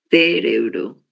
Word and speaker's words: cérebro: Cérebro. Proparoxítonas. Isso, exatamente. Temos aqui a sílaba sé, é a antepenúltima sílaba, né? Então, em razão disso, ela é considerada uma palavra proparoxítona, ok?